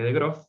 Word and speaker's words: de Groot: investigación que hizo un matemático, Adrián de Groot, se escribe de Groot, pero se lee de Groot, que hizo algo muy interesante.